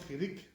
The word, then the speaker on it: chirik: So the question is, how do you pronounce chirik? So most people, they say the E sound, right? Which is like the I, the E, right? E is chirik, right?